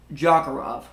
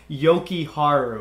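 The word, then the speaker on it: Jokiharju: Jokerov. Henry Jokiharu. His speechless reaction to that says it all. It's Henry Jokiharu. I remember the J's and not pronouncing the J's.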